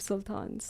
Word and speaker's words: Sultan: I know a lot of sultans. Oh, but we pronounce it a little differently. It's Sultan.